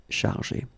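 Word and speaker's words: chargée: at the end of chargé. Okay, so it will be the feminine form. You don't pronounce it because phonetically it doesn't exist, but you need to write it.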